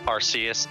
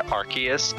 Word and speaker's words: Arceus: Y well I'm pronouncing Arceus uh the way a latinate language would pronounce it if it were Japanese